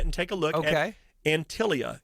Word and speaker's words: Antilia: take a look okay antilia it's spelled ant like ant i l i a Dave the home